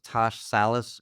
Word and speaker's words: Tash Salas: with Mark and Mike we have with us TSH Salis am I pronouncing it correctly yes okay cool all right